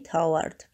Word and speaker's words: toward: Please remember, say toward, just as if it rhymes with birds.